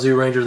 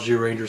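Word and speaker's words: Zyuranger: first season that was that's from jew ranger or zoo ranger if you don't know you know pronounced in japanese i thought it was zoo ranger then i found jew ranger so all right so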